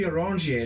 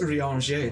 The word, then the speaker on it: Urianger: Yeah, it used to be Orangier, now it's Urianger. They pronounce it different.